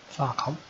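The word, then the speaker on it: Pharcom: Farcom? Spelt with a PH.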